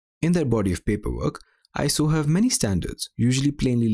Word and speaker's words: ISO: international organization for standards note that it is not an abbreviation so it's not iso it is actually pronounced iso i checked iso basically